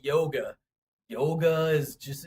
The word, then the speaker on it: yoga: You want to say yoga. And actually, technically, in North India, in Hindi, it would actually just be yoga. You wouldn't necessarily say the A.